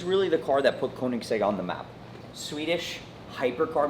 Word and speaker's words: Koenigsegg: I mean, how do I pronounce this car again? Koenigsegg? Koenigsegg.